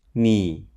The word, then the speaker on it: 妳: 你 and 你 have the same pronunciation, which is 你.